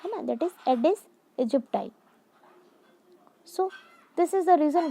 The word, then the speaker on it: Aedes aegypti: Children have written the pronunciation of this word with pencil here so that it will be easy for you to pronunciate. That is Aedes aegypti.